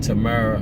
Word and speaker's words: Tamara: Her name is pronounced like Tamara on the twins.